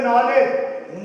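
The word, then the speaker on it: knowledge: हर्फ साइलेंट होता है जैसे नॉलेज नॉलेज में के पढ़ा नहीं जाता मगर लिखा तो जाता हैने में एक पढ़ा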